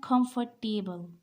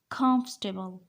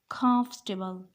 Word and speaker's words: comfortable: is comfortable comfortable the stress is on first syllable this is comfortable this is not comfortable comfortable comfortable and this one this is not colonel colonel